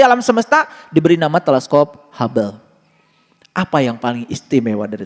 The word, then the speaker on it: Hubble: Ditulisnya huble. H U B L E. Huble. Dibacanya hub.